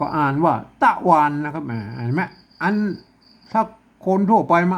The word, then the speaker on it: ตะวัน: ครับ อ่า อ่าน ว่า ตะวัน เหมือน กัน ใช่ มั้ย อ่าน ว่า ต๊ะ นะ ครับ อัน นี้ นะ ครับ ตะวัน นะ ฮะ อ่าน ว่า ต๊ะ วัน เลย ก็ เงียบ คน ทั่ว